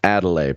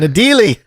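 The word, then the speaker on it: Adélie: I think it is pronounced Adelaide penguins. Adelaide, what did I say? That's something else. Adelie? Okay. Yeah. It's an Adelie.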